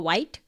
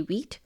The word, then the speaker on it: Vite: Instead of CRA, create React app, we will be using Vite or White, the way you want to pronounce it. I will say Vite.